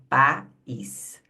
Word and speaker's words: país: Então a gente pronuncia separadamente, ó, país.